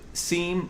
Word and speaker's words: Siim: do you how do you say your name seem sorry how do you say your name and